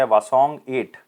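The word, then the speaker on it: 화성-8: किया, जिसका नाम क्या है, वासोंग 8। तो याद रखना है, हवासोंग 8 भी कह सकते हैं, वासोंग 8 भी कह सकते हैं। जनरली एच साइलेंट होता है, लेकिन फिर भी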